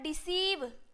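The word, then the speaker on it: deceive: ई भी ई कंसीव उसके बाद हो जाएगा डिसीव क्या हो जाएगा डी ई सी ई आई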